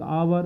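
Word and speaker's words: hour: आते हैं यहां पर देख आवर तो यहां पर हा नहीं बोलेंगे इसका उच्चारण एच का आ आएगा आवर तो हमने जो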